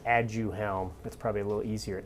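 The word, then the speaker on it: Aduhelm: have to pronounce it and you have to spell it okay there's a there's a brand name for the medications called add you helm that's probably a little easier a-d-u-h-e-l-m so add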